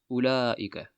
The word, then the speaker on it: أولئك: This waw is not pronounced. أولئك.